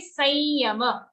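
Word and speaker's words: संयम: If there's an anuswar coming before a ya, we have to pronounce that anuswar as a nasal ya itself. Okay, so that's why we say Sanyama, Sanyoga.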